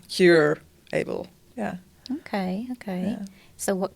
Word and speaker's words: Curable: it's called Curable. I don't know how to pronounce, but it's like cure-able.